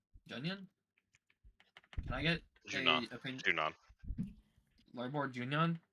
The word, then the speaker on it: Junon: And there's a NPC or location called Larboard Junion. Junion? Can I get Junon.